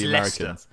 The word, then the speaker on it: Leicester: Like no, it's Leicester. It's Leicester, my friend.